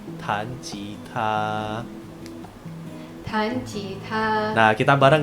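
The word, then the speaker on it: 弹吉他: Nah, bermain gitar di bahasa Mandarin itu kita bacanya tan jita.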